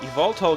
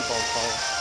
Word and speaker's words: Yveltal: And then Yveltal gets the big knockoff.